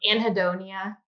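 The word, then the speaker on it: anhedonia: Anhidonia.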